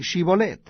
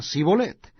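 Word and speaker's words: שִׁבֹּלֶת: Si él respondía, no, entonces le decían, ahora pues di Shibolet. Y él decía Sibolet, porque no podían pronunciarlo correctamente.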